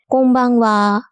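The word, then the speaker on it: こんばんは: শব্দ তৈরি করে তখন প্রথম শব্দের শেষে যদি নয় হসন্ত অক্ষরটি থাকে তবে দ্বিতীয় শব্দ কোন ব্যঞ্জন বর্ণ দিয়ে শুরু হচ্ছে তার উপর নির্ভর করে নয় হসন্তের উচ্চারণ একেক রকম হয়।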